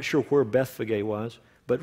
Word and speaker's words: Bethphage: In Greek, it's Bethphage. Some have pronounced it in English, Bethphage.